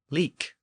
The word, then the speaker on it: lic: Another common Old English suffix was like, originally spelled L-I-C, pronounced leek, or sometimes spelled L-I-C-E, pronounced leecha.